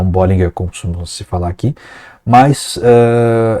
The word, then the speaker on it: Bollinger: E o nome certo é esse mesmo, Bollinger, e não Bollinger, como se falar aqui,